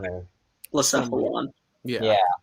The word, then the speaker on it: Blacephalon: The Blasphaleon or Something. Blacephalon.